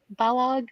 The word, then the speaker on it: Balog: Well, it's like Balog, like Kellogg's.